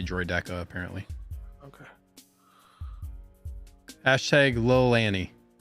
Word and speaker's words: Droideka: It's Droideka. A lot of people get triggered when you say Droideka, apparently.